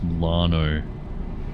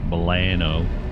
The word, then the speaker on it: Milano: Although I'm pretty sure it is Milano, and I've heard some Americans say Milano. Like, oh, that is really bad.